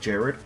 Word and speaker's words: Gerard: again gerald butler gerard gerard butler although i think he's said in interviews that he pronounces it more like jared like jared but with an r at the end it's a it's a